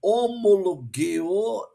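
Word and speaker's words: ὁμολογέω: Homologeo, tá? Lembrando que no grego essa letrinha aqui que parece um G, mas no grego é o gama, se pronuncia com G.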